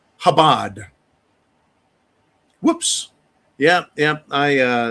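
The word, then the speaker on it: Chabad: Uh, Darc uh uh has let me know it's pronounced Habad.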